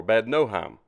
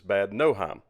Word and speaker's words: Bad Nauheim: hotel and this is in Bad Nauheim or bad no Heim as I've been told recently I was pronouncing it wrong it is bad no Heim so anyway I looked and looked and looked